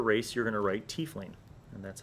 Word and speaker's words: tiefling: With the good pencil, under race, you're going to write tiefling. And that's how you spell it. Some people pronounce it tiefling, but I think that's dumb. So I'm going to say tiefling.